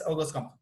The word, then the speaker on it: Auguste Comte: El positivismo, recuerden, fue fundado por Augusto Comte, o Auguste Comte, o Augusto Comte, como le quieran pronunciar. De hecho, se escribe Auguste Comte. Pero como es francés, es Auguste Comte.